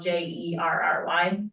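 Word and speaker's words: Jere: all right um so you spell your name j e r e is that correct yes is but it's pronounced the same way as if it was spelled j e r r y as in Jerry is pronounced Jerry there's a lot of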